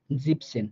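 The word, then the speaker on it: siebzehn: মান জিভেন শিখেছি কিন্তু আপনি যখন 17 বলতে যাবেন তখন এই সাত টাকে জিভেন না বলে আপনি মানে ইয়ানটা উঠায়া দিয়ে জিপ বলবেন এরপর আপনি দশক সেন বলবেন জিপ সেন হ্যাঁ এটা ব্র্যাকেটে লেখা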